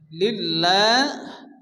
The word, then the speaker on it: لله: শুরুতে জের আসে আল্লাহ শব্দ শুরুতে জের আসলে আল্লাহর নামকে বারিক অর্থাৎ আল্লাহ উচ্চারণ করে পড়তে হয় লিল্লাহ এখানে হা সাকিন হবে লিল্লাহ والأمر يومئذ لله